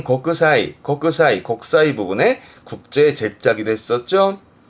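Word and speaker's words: 国際: 그래서 국제 발음은 고크사이, 곡사이 부분에 국제 제자기도 했었죠.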